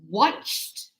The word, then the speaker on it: watched: Washed. Washed. And watch. See the difference? Watch. Watched.